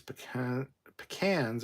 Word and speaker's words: pecan: My take on it is pecans originated from the southern U.S., and we say pecan, so that is correct.